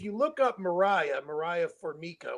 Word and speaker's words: Formica: look up Mariah Mariah formica which is spelled like formica f-o-r-m-i-c-a if you look her